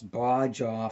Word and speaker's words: Baja: So in today's video, we will be trying Mountain Dew Bajaw Flash. And I know that it is most likely pronounced as Mountain Dew Baja Flash.